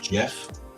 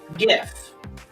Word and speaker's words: GIF: I've always called it Jeff will grammatically correct you are pronouncing it correctly G with an uh with a vowel next to it usually makes it J sound right but there are